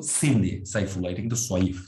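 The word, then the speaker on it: صيف: আর এই যে এটা কিন্তু সাইফ না, অনেকে উচ্চারণ করার সময় রিহাতা শীতাই ও সাইফ বলে, এটা কিন্তু সোয়াইফ, সোয়া দিয়ে আপনাকে বলতে হবে।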